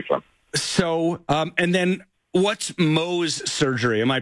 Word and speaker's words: Mohs: So, and then what's Mohs surgery? Am I pronouncing that right?